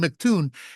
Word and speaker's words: McToon: And stop mocking people for calling him McToon. He literally writes it MC Toon, which is pronounced McToon.